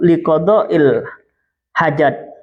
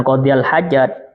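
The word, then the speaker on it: لقضاء الحاجة: Yang benar bacanya liqada'il hajat, bukan qadiyal hajat, liqada'il hajat. Jadi kalau yang dibaca istiwasa bukan ini. Ini qada'il hajat, bukan qadiyal hajat. Qadiyal dengan qada'il itu beda banget.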